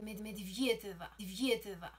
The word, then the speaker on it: Medvedeva: Dicen los rusos que se pronuncia Medvedeva.